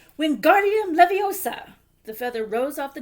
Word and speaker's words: Wingardium Leviosa: "Wingardium Leviosa!" he shouted, waving his long arms like a windmill. "You're saying it wrong," Harry heard Hermione snap. "It's Wingardium Leviosa. Get the gar nice and long."